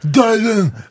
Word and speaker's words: Dylan: Bob Dylan, you understand what I mean? No, it's Bob Dylan, Dylan.